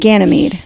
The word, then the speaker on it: Ganymede: So we have to go into the Greek pantheon, and his name is Ganymede. Ganymede. Ganymede. Yep. Ganymede. Ganymede.